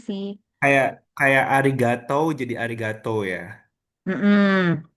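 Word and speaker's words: ありがとう: kayak kayak Arigato jadi arigato ya. Heeh. Kan sebenarnya tulisannya kan arigato. Kalau hiragana itu arigatou. Jadi sebenarnya tuh dia cara bacanya tuh yang benar agak panjang.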